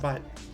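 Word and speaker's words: Butte: we're in the of butt the E is silent I truck SIM from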